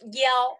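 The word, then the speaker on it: 幺: Because I have said that yi can also pronounce as yao, okay?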